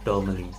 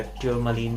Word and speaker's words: tourmaline: उसमें से एक है ये ब्लैक टोरमलिन। इसको ब्लैक टुरमलिन भी कहते हैं, टोरमलिन भी कहते हैं, या ट्यूरमलिन ऐसे भी प्रोनाउंस किया जाता है।